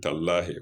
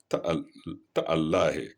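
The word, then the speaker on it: تالله: Our locals say tallahi, wallahi tallahi. But here it is ta'allahi.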